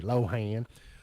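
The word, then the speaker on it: Lohan: Lindsay Lohen is uh 39. That's the way it's pronounced according to this. Round here we say low hand.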